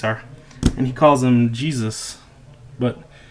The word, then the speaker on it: GSUS: that's what these are and he calls them Jesus but not with a J it's gs us but it's it's pronounced Jesus and they're a replica of this